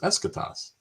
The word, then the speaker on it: Eschatos: narrator actually or the voiceover comes on says eschatos and you're like hey thanks i was like